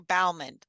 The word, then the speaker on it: Baumann: did my research because I actually grew up with with families that had the same last name as you but it pronounced differently but then I realized you Bowman so yeah we want